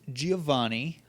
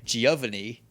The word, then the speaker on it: Giovanni: City Gym Leader is a man named Giovanni Oh which I used to pronounce when i was a wee little baby boy Giovanni that's okay all right let's it looks like it could sound that way yeah I can see